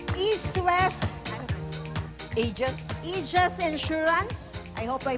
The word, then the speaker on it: Aegis: East-West Aegis Insurance. I hope I pronounce it right. Okay. Aegis, yes.